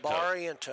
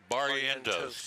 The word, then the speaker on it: Barrientos: Barrientos. There you go. I got it. Yeah. Barrientos. B-A-R. That's phonetically.